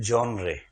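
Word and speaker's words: genre: जीई एन आर ई इसका उच्चारण है जनरे या जनर कुछ लोग जनर बोलते कुछ बोलते उसका हिंदी अनुवाद होता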